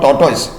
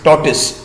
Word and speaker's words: tortoise: lived a tortoise oh generally you know people mispronounce that as tortoise it is not tortoise only when you go and buy a mosquito